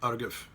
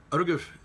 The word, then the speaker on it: Argif: To the Arga, they pronounce it Argif. Argif is the Gaelic way, it's the way you pronounce the actual Gaelic word of it.